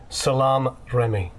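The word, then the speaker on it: Salaam Remi: had uh um oh my God how' you pronounce his name PA pause a second Salam Ry Salam Remy Sal thank you I don't want to mess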